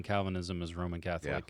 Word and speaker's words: Calvinism: no cuz that's about as equivalent as saying Calvinism is Roman Catholic saying the Constitution is communist like that's it's that it's that level um yeah this one lady she would constantly uh call it calicis and I don't think she was doing it